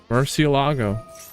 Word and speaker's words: Murcielago: That's how you say it, the Murcielago. We heard it on stream the other day from an official Konami broadcast. Murcielago.